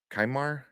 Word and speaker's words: Qimir: Kaimar. Kimar. That's what I saw. Kumar? Kimar. Yeah, I forgot how to pronounce it. Q I is key, and then Yeah, bar. yeah.